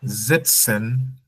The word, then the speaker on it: sitzen: Then sitzen und sitzen. So please pronunciation E wie Ida. Sitzen und setzen.